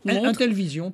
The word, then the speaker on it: Intellivision: Et la société séchelloise, j'imagine qu'il y a une autre prononciation à cette société, Intellivision. Intellivision, tout simplement. Comme ça s'écrit.